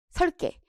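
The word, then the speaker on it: 섧게: 요거 리을 비읍이면은 보통 앞자음 발음입니다. 그래서 이거 설개로 발음해야 돼. 설개. 설개.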